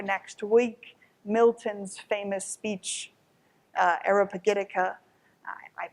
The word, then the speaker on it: Areopagitica: gonna read for next week Milton's famous speech Arabic etiqa am i pronounce it correctly ish which is defending the